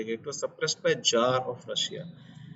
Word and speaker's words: czar: जार, CZAR, इसमें सी silent है, CZAR।